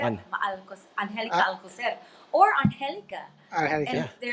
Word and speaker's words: Angelica: people can't pronounce Alcocer, On Angelica Uh, Alcocer, or Angelica. And Angelica. Yeah, they're like, is it Angelica or Angelica? It's Angelica.